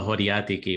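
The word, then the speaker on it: χωριάτικη: it's called a horiatiki, which means village salad.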